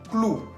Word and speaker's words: clou: Otro ejemplo que sigue, clou. Clou. Se escribe con la O-U al final, que tiene sonido U.